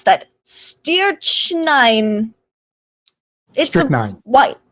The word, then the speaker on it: strychnine: They've been poisoned by oh gosh, how do I pronounce that? Strychnine. Strychnine. White. Strychnine.